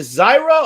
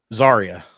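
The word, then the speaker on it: Zaria: I keep forgetting How do you Is it Zyra or Sariah or what the is it? How do you pronounce her name? Zarya. Zarya.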